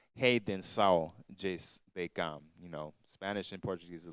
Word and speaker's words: A Redenção de Cam: redemption of Ham, and it's actually pronounced Redenção de Cam.